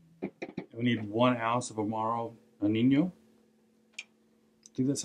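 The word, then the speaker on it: Amaro Nonino: nouns in half we need one ounce of omaro e nino dude that's how you say it there is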